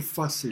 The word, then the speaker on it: face: O sea, voy a pronunciarlo por el viejo español antiguo. La F como H. Entonces, mucho face el dinero e mucho es de amar.